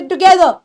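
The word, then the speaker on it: together: भी सही की होंगी कोशिश करो कि जो वर्ड्स आर से खत्म होते हैं उनके अंदर लास्ट के आर को पूरा नहीं बोलना होता जैसे टुगेदर ठीक है उसके बाद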